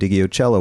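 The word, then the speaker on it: Ndegeocello: then d'angelo and erica badu and michelle and digiocello one after another there you were you said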